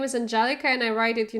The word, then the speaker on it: Angelika: doctor or whatever and they always pronounce my name in Germany like anel because there is no